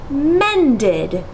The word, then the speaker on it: mended: sound this word is mended and it creates a second syllable listed mended and notice that that final sound goes over to the second syllable it really sounds like listed men did okay now let's try